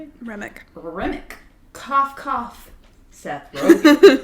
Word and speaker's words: Remick: The show follows Matt Reik. Is that how you say it? Remick.